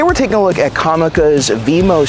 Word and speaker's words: Comica: years using comica products I've been saying it wrong and it's actually comica but anyways here is